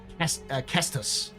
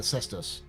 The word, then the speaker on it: cestus: It's technically would be called the Kestus rather than the Cestus. But yeah, the Kestus because it'd be the hard C with Latin.